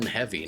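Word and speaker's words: Hevy: app and for me that's heavy that is spelled h v y it's obviously on Android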